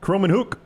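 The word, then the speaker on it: Kromenhoek: Florida State quarterback Luke do you know how to say his last name croman hook I think is the way I've always said it yeah okay Luke croman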